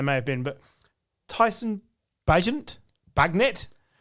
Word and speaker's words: Bagent: have been, but Tyson Bagnet? You tell me, because I've heard it pronounced in several different ways, and I feel like I'm getting it wrong. Bagent. Right, Tyson Bagent.